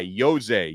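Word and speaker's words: José: his son's first name it's like imagine it starts with a y yose yose epinesa is going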